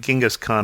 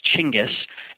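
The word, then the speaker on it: Chinggis: Americans would pronounce it is actually a French Corruption of the original pronunciation of the word and the way that Mongolians pronounce it is chingis and they spell it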